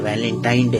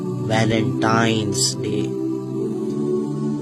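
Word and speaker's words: Valentine's Day: नाम पर गौर करें इसे जो आम कहा जाता है यह वैलेंटाइन डे है लेकिन हकीकत में जो इसका प्रोनाउंस एशन है वह है वैलेंटाइंस डे य वैलेंटाइन वाला दिन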